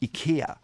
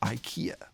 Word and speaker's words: IKEA: If you're from Europe, from Sweden, you call them "ee-KEA." In America, they call them "ay-KEA."